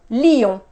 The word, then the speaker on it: Lille: in French is an e so we say Leo leo I've butchered that one I don't know which one